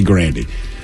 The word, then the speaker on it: Grande: Like, this woman came out and said it's actually Grande.